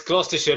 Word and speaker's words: Gloucestershire: It's Gloucestershire, but I have to say in my head,